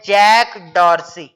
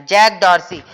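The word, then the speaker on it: Jack Dorsey: पहला है जैक डॉर्सी, pronunciation कर रहा हूं, ध्यान रखना, जैक डॉर्सी।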